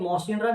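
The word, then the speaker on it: Mawsynram: इसके बाद highest rainfall, तो इसको हम ऐसा पढ़ेंगे मौसिनराम, इसका प्रोनाउंसिएशन यही है मौसिनराम, जो कि मेघालय, मेघालय में तो बोला जाता है कि मेघालय में बहुत ज्यादा बारिश होती है।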